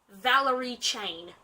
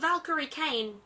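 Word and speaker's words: Valkyrie Cain: the first 5 books as Valerie Chain. Not Valkyrie Kane, Valerie Chain. I only discovered my error when talking to my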